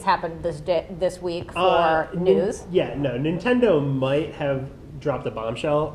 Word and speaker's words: Nintendo: Nintendo might have dropped a bombshell, and that bombshell might have been made of cardboard.